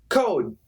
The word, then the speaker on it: code: Code, code, I stop. I put my tongue right here at this point, and I stop. Code, code, code, code. And I'm here. Cold, cold, cold, cold. So in daily English, we usually don't say D, we just stop.